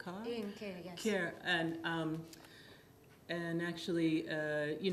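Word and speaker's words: Ian Kiaer: think of, I hope I don't pronounce his name wrong, Ian Keir? Ian Keir, yes.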